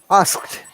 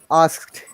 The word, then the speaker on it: asked: the first word ask asked the d sounds like t though that's fine that's acceptable asked ask help it's cheap